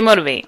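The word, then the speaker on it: Motiv8: I'm gonna say Motivate. Mm-hmm. Okay, even though it's spelled motive with an 8.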